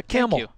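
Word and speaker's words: Kamel: means a lot yeah camel thank you by the way tell people how it's spelled if they're new to you it's with a k a-m-e-l like the animal and i will say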